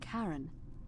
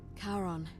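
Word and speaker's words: Charon: It's just as you described it, only your pronunciation is a little off. The name you heard wasn't Karen. It was C H A R O N as in Kon, the fairerryyman of the dead. Karon, who in exchange for the right coin, helps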